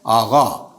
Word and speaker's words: آقا: ہم آقا کہتے ہیں، ایرانی لہجے میں وہ آقا نہیں ہے، وہ آغا ہے. مثلا کہیں گے آقا یہ استاد، جناب استاد. تو لکھیں گے تو قاف لکھیں گے، بولیں گے تو غین بولیں گے.